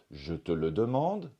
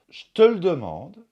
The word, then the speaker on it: je te le demande: en voie la 4 je te le demande ça c'est la prononciation standard je te le demande ça c'est une possibilité je te le demande